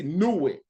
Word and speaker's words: Nuit: It says an area with crossroads, and then we see Nuit. That's how you say it in Medu Nature.